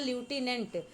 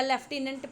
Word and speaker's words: lieutenant: Question number 6 देखें, name the ल्यूटिनेंट, या लेफ्टिनेंट पढ़ सकते हैं आप इसको।